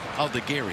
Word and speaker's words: Aldegheri: I know they pronounce it Gary. Aldegheri.